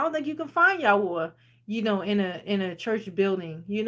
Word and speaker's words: Yahuah: So, somebody tried to say his name not Yahweh. His name is Yahwa.